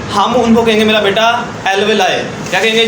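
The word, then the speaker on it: alveoli: Bronchiole नहीं कहेंगे, हम उनको कहेंगे मेरा बेटा एल्वेलाई।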